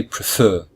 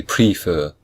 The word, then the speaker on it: prefer: There are 2 syllables, and the second syllable is stressed. So we say prefer. We don't say prefer. We say prefer.